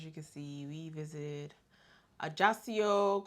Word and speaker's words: Ajaccio: can see we visited ajasio Corsica wow I said it right yeah I think it's just I just yes it's not Spanish it's French okay one of them so